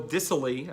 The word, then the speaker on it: Dissly: And then no-name Will Dissly, I believe is how it's pronounced, I believe is technically classified as a